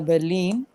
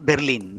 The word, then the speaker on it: Berlin: The stress is on the second half.